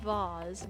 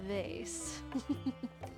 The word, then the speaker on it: vase: a wonderful item and it's pronounced bars not vase a little flavor text